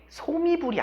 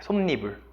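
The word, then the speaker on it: 솜이불: 이거는 소미불이 아닙니다. 어떻게 되냐면 보세요. 앞말이 이 소미라는 말에 뭐로 끝났고 자음으로 끝났고 얘는 없는 거라고 했죠? 그럼 모음으로 만나잖아요. 그럼 뭐가 들어가야 돼? 솜니불이라고 읽어야 돼요. 솜니불. 소미불이 아니라 솜니불이라고 해야 맞습니다. 오케이?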